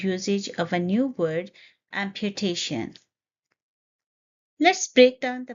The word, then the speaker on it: amputation: of a new word, amputation. Let's break down the pronunciation first. It's a four-syllable word, amputation. Point to be noted are, here is the schwa sound, which is a sound, and we stress on the third syllable.